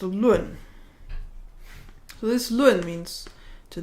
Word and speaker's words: 论: For all its other meanings, this is pronounced lun.